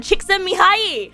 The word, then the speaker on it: Csikszentmihalyi: Mihaly Csikszentmihalyi.